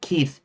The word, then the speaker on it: Keith: Uh Keith. Ke ei h. It uh I guess it rhymes with heath.